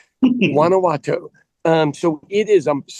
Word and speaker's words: Guanajuato: So, I am in Wanowato, Mexico was spelled with a G. So, Guanowato, if you ever watch any social media, they misstate it all the time. Wanowatau.